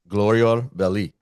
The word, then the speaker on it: Glorior Belli: Billy Bayou of Glorior Belli. Perfect. Perfect. Very good pronunciation. I like the R that you did very nicely.